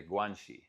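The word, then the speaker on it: 关系: It's two words, but they put them to guanxi. So Xi is pronounced the same as Xi Jinping's last name, guanxi.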